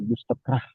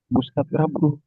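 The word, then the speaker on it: Gustav Radbruch: Ya, seperti tadi Gustaf Rabbruh, Anda cuma baca Gustab Rah ya itu salah itu namanya orang Gustatra Bruh. Anda baca Gustatrah ya.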